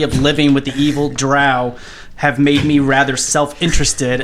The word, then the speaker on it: drow: i also don't know how to say the drow home city so let's roll is it isn't it dro no it's drowning it's drow yeah right it doesn't matter because it's rousey